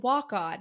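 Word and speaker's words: Waconia: he's like I live in Walk On, and then like the like narration is like he pronounced it walk on, and I was like that's unhelpful.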